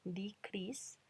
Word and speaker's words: decrease: decrease, todas con I, decrease. Y a pesar de que escrito termina en E, cuando yo lo pronuncio el sonido final es S. Decrease, entonces es del grupo 1 y suena con T.